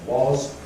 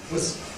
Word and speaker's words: was: Strong form was, weak form was. So we say, I was talking, I was talking. Let's transcribe that. Strong form was, weak form was. I was talking.